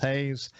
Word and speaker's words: Haas: It looks like Haas, but it's pronounced Hayes.